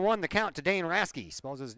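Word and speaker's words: Hrasky: the count to Dan raske suppose his name h-r-a-s-k-y the H is silent pitch down and low inside three and one oh rasky digs back in from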